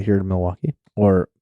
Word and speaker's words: Milwaukee: It's from Third Space Brewing, which is right here in Milwaukee, or Milwaukee. Actually, it's pronounced Milwaukee.